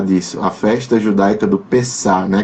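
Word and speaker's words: Pessach: A festa judaica do Pessah, né? Que termina com CH, mas a pronúncia é mais ou menos essa.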